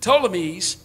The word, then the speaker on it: Ptolemies: north of israel and the uh the the ptolemies is how you say it settled in the